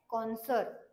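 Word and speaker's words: connoisseur: एस य आर तर याच प्रोनन्सिएशन काय आहे कॉन्सर ओके याच प्रोनन्सिएशन आहे कॉन्सर याच मिनिंग काय आहे तर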